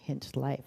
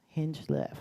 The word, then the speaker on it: Hinchcliffe: last week we had Derek Hinchcliffe I'm saying that right am I yes no I'm not saying it right hinch life right no see Hing Liff okay and he spoke